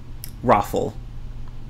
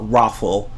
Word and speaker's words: ROFL: intense version of lol raffle you can even see yeah you can say that it's one word as well rawful rfl raffle or some people say